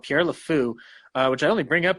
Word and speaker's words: Le Fou: They pronounce it Le Fou? Pierre Le Fou, F-O-U.